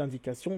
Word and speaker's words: indication: Donc quand vous dites indication, le T est prononcé S.